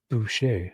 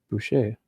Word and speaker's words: Boucher: And Nicole is saying it's pronounced Boucher. Yeah, that's what I was saying. Boucher. That's how I'd always say it. I mean, up here in Canada, we'd always say the CH is like a sh.